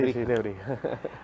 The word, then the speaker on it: Nebrija: ¿Así que se pronuncia? Sí, Nebrija.